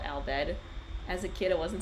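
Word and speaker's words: Al Bhed: I didn't understand why they were called Albed as a kid. It wasn't until like I was 20 I got it cuz aled kind of sounds like the Japanese pronunciation of the English word alphabet cuz alphabet aru fab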